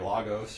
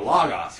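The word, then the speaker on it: λόγος: an omega oh so in a word like this how do you pronounce that lagos i've heard a lot of people say like lagos or logos or logos and i'm like where are you getting there so logos right it's an omicron and another omicron um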